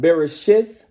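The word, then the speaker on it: בראשית: This is Genesis, or in the Hebrew, it will be pronounced Bereshith, chapter 7.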